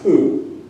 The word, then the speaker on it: P'u: and the u the notion of Pooh is pronounced Pooh.